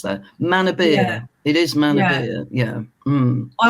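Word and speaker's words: Manorbier: from other weal friends were like no it's Mana beer so yeah it's not Mania yeah I've been pronouncing it wrong for years yeah me too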